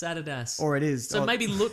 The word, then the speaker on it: Adidas: Nike yeah or like Adidas Americans call it Adidas incorrect it's Adidas or it is so maybe maybe lot crate is actually pronounced lot crate and they're like finally somebody